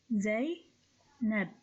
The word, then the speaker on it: Zainab: So this name consists of only 2 syllables, Zainab, Zainab.